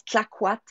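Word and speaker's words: Clayoquot: curieux qui nous entendent, ça s'écrit Clayoko, mais ça se prononce Claquat Wilderness Lodge.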